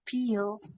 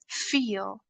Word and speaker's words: feel: For an example, it's not peel, it's feel. A sound. Don't say peel, okay? It should be f feel. Don't touch both of your lips together. Okay, it's feel.